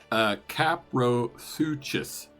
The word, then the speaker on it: Caprosuchus: Tell me how to pronounce it one more time, and I'll lock it in. Copper shoe. Caprosuchus.